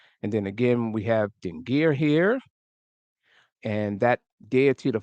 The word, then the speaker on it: dingir: So we see this first symbol here, or this inscription, is what's known as a dingir. A dingir. It's one syllable, and it's usually in